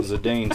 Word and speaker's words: Zidane: given Japanese phonetics and they always pronounce the e it is always pronounced it's never that talen